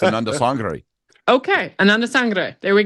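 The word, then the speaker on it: Anandasangaree: My Tamil friends say it's Ananda Sangre.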